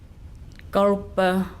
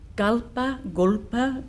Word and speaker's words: golpa: Golpa ngawar. Golpa ngawar. It's a combined Yorta term for deep listening and looking. In Yorta, golpa, gulpa, different ways of pronouncing it, means deep.